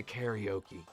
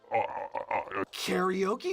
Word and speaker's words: karaoke: Usually when I'm speaking English, I say karaoke because that's how we say it in English. I said karaoke is how you say it in Japanese.